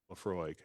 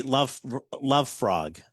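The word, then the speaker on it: Laphroaig: It might rhyme with Lafroig, but I'm not sure. Oh, yeah, I can see that. That would be love frog.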